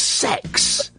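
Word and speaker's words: CeX: of people that um That kex Computer Exchange is pronounced as sex I'm being told by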